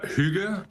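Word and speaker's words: hygge: about yeah well uh Huga as it is pronounced in Denmark is actually uh uh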